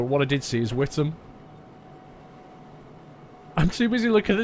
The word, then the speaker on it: Witham: Whittam's a very small town. It's a really weird pronunciation, Whittam. It's, you'd think it's pronounced Witham, W-I-T-H-A-M, but it's not. For some reason, it's pronounced Whittam.